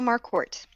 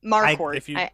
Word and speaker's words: Marquardt: Marquardt. I accept a lot of half-assed efforts, though. I always say it like a Bostonian, where it's like Marquardt. Yeah, me too. Marquardt.